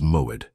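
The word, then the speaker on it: מועד: The Hebrew word that defines exactly what is happening to you is moed. Pronounce with me in a low voice wherever you are.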